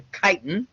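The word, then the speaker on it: chitin: have that whether we're talking about things called kitens look at that word again it's not Chi t i n even though it's pronounced very much like that it's a kitan um mantle gut foot okay the gastropods the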